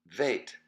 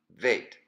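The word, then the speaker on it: vet: But when there is no dagesh, when it's absent of the dot, then it is pronounced veit, and the sound is va, veit, va.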